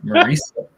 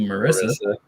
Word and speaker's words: Marisa: We pronounced her name wrong for months because she never corrected us. It's Marisa. It's Marisa, although you say it is Marisa, so you assume Marissa.